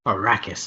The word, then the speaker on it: Arrakis: it's pronounced giancarlo esposito whether it's arrakis or rakis it's a-r-r-a-k-i that's the name of the planet giancarlo esposito arrakis is how i would say it more power a ruckus